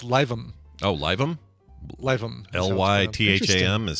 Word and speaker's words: Lytham: Lytham is spelled Lytham? It's pronounced LIVE-UM, Lytham.